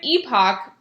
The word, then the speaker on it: epoch: the epoch of incredulity and so the word epoch first of all that's how you pronounce it so make sure you pronounce it